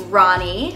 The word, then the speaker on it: Rani: spelled r a ni I but it is pronounced Ronnie now a lot of the information I'm going